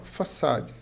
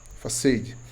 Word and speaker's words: façade: Você percebe esse padrão, ele tem um nome, ele se chama façade. A pronúncia mais comum é façad, facade. E vem do francês façade, que significa fachada.